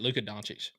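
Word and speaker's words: Luka Dončić: last name yeah you you said it right Luka donic yeah donic Don it's weird it's a weird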